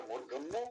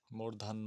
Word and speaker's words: মূর্ধন্য: সেই জন্য এটা মূর্ধন্য একটা দন্ত তারপরে আসছে ওটা। তাহলে এইটার উচ্চারণ স্থান কি? মূর্ধা। মূর্ধ, মূর্ধান্য না মূর্ধন্য।